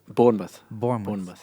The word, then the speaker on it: Bournemouth: But the Spice Girls didn't announce a tour in how do you pronounce it? Bournemouth.